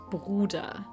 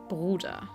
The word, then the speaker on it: Bruder: Uh so, the way that that the the German word for brother is pronounced is Bruder. Bruder.